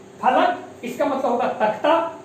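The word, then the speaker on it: फ़लक: सातवां जोड़ा देखेंगे बिना नुक्ता में फलक, इसका मतलब होगा तख्ता, और नुक्ता लग जाए फ में तो क्या हो जाएगा? फलक, फलक, और इसका अर्थ होगा आसमान।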